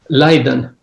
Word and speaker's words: Leiden: Leiden. Leiden that's easy. Leiden 2000 uh 2000 to 2004. So that's interesting. You were getting a PhD. You were at Leiden University when the millennium happened, when the internet